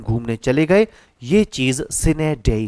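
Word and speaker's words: sine die: अगला वर्ड है सिने सिने डे असल में डाई होता है लेकिन डी इसे बोला जाता है इस लैंग्वेज के प्रोनाउंस नेडे चने डाई नहीं बोला जाता यहां पर इसको सिने डेई सिने डेई का मतलब हो जाता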